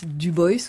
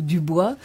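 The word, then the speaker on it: Du Bois: s'appelle William Edward Burghardt Dubois ou Dubois, et notamment son ouvrage important. Ça s'écrit comme Dubois en français, mais voilà. En deux mots, mais comme il est américain, on dit prononce parfois Dubois.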